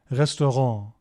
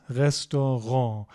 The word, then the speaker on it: Restaurant: Das Restaurant. The pronunciation at the end here is a bit different and untypical of German. That's because it's a French word and we've sort of kept the French pronunciation here.